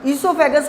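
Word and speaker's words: oesophagus: ध्यान रखना बच्चों, इसमें ओ साइलेंट होता है, ओ का प्रोनाउंस नहीं करेंगे, ईसोफेगस बोला जाएगा इसको.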